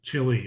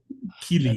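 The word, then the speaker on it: Chili: from Chile, Wisconsin, and I think I'm pronouncing it correctly, Chile, right, Eric? Yeah, that is correct. Okay, it's not Chile or Kili Not, or something.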